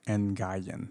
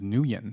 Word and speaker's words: Nguyen: up as well like i told people my last name was new yen i was like hey g silent don't worry about it